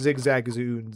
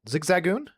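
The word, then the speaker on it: Zigzagoon: No one cares about Zigzagon. What did you call me? Listen, legitimately, uh you've got a point. Nobody wants Zigzag Zoo.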